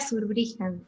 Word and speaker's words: Zurbriggen: deletrea tu oficio como como perdón cómo se pronuncia tu apellido me la sur brillan es así en los cumplidos la verdad que